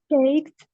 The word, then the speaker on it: checked: Checked, Checked. checked. Bravo. The E sound is not pronounced at all.